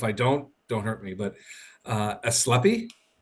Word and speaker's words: Ascleppi: Franco Kraiselburd, the founder of, I want to pronounce this correctly, so if I don't hurt me, but Ascleppi? Ascleppi.